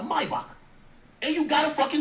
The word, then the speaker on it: Maybach: But you were cool with it back then because you got a Maybach, or let me say it correctly, a Maybach.